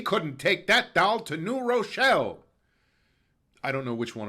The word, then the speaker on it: New Rochelle: That's how you know whoever's saying it isn't from there, if they actually pronounce it as two words.